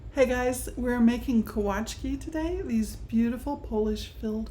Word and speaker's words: Kołaczki: You may have heard this word pronounced Kolaczki, and that's because the L in this word has a little slash on it. There's a W sound to that in Polish. So Kołaczki would be an English pronunciation, Polish would be Kołaczki.